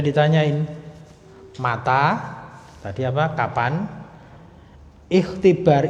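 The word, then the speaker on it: اختبار: Ikhtibar itu kalau berdiri sendiri bacanya ikhtibar. Ikhtibar. Lah, ikhtibar hamzahnya itu namanya hamzah wasal. Hamzahnya hamzah wasal, maka ketika seperti ini dibacanya nyambung. Matah tiba rukunna. Matah tiba rukunna. Hamzah wasalnya tidak terbaca, dilewati aja.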